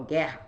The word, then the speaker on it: guerra: Eu não falo guerra, eu falo guerra, guerra. Esse U não é pronunciado.